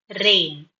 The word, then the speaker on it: reign: Pronunciation is rain, just like RAIN, rain. Inge REIGN means um, ஒரு